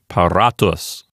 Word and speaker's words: paratus: Let's examine the penult. We have an R and an A there. Does the penult contain a long vowel? Yes, it contains a long A. So the fact that that syllable contains a long vowel will make the whole syllable a long syllable. So the accent will stay on the penult, and it sounds like paratus.